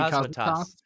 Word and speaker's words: Cosmatos: Cosmatos.